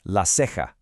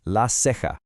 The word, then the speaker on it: la ceja: This is la ceja. Now pay close attention to that ha sound at the end because we're going to see it again. Say it with me, la ceja.